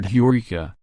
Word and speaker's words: Eureka: learning and discovery pronunciation the accent of the English word is on the second syllable following Latin rules of